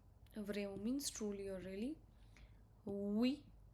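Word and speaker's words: oui: We O U Y is we.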